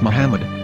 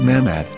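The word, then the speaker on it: מחמד: yehuda's Hebrew English dictionary it is correctly pronounced as Muhammad not mammad so how we're going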